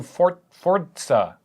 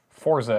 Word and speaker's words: Forza: Anyway, it's coming to Forza, Yeah. or Forza, as everyone who isn't Italian or works at Microsoft pronounces it.